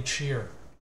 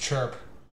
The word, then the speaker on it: Chyr: It's pronounced like cheer, like cheer up. Willy Chyr.